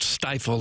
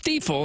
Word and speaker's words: Stifel: TMA 101 ESPN It is of course pronounced steifle not stifle or stifle. It's steifle and it has been steifle for 136 years now.